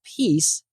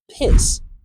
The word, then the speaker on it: peace: in she vow so without the right placement this e as in she vow often sounds like an i as in sit vow so instead of peace I hear piss which is a rude